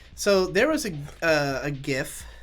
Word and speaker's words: GIF: I mean, and I'll also say, so there was a GIF, if you will allow me to pronounce it thus. It's a jife, as I recall.